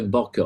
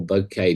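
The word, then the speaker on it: bokeh: is to play with the Baka or bouquet depending how you want to pronounce it either way I'm happy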